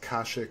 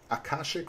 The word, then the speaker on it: Akashic: is kashik record uh it's actually the I think it's akashik record with an a in front of that so akashik Akasha or kashik it could probably also be pronounced kashik silent a or just like an invoked a but uh the akashic